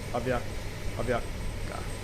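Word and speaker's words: Aviacsa: Yeah, it is call sign Aviaca. Aviaca. Oh, so the S is silent.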